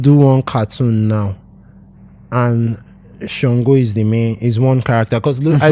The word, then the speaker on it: Shango: And Songo, because we know they won't pronounce it Shango.